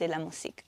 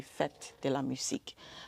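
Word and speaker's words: Fête de la Musique: a part of a global celebration known as Fit Deamus. Please correct me if I'm not pronouncing that properly. Can you help me with the pronunciation? demusk. Okay. Fet de la.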